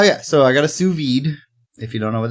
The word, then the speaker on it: sous vide: So, oh yeah, so I got a sous vide. If you don't know what that is, it's spelled S-O-U-S, like sous chef.